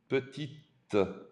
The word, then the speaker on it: petite: Elle est petite. Elle est petite. Now you can pronounce the T.